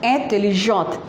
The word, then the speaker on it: intelligent: And intelligent is intelligent, but the pronunciation is different. That is tu es intelligent.